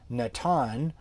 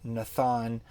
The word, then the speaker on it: Natan: what's ironic is that when the bible was first translated into english they they translated that that hard sound with this with a softer thaw sound and i don't know why so for instance you have you know the the prophet um natan and uh in in english bibles he came out as nathan and of course we see that as nathan um you know what